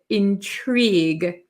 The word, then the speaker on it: intrigue: look at today is intrigue intrigue so it looks like um intrig it looks kind of funny at the end with the GU e but we pronounce it intrigue intrigue we don't